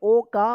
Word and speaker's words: woke: नाम है Mohan, WOKE, last में ई रहेगा और उससे पहले वोवेल ओ रहेगा, तो ओ का क्या उच्चारण होगा, ओ उच्चारण होगा, तो क्या पढ़ेंगे, ओक, और ई साइलेंट रहेगा।